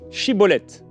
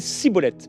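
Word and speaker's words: shibboleth: alors il lui disait et bien dit chibbolète ça veut dire un épi de grain de blé et lui en fait il disait ciboulette parce qu'en fait il n'arrivait pas à bien prononcer c'est ce qu'il est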